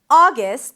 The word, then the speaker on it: August: August has 2 syllables. The first one is ah, as in father, ah. You can also round your lips to something more rounded, like the daughter vowel, ah, ah, and then gust. A gust sound, a schwa, an S and a T. Gust, gust.